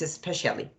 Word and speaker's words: especially: It's not especially, it's especially, okay?